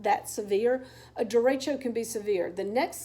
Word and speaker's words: derecho: want to talk about is what's called a derecho which is spelled d ER e CH o d ER